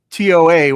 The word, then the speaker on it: Toa: what is How do you How do you pronounce it? Uh, it's t o a. What How do you say that? Tau?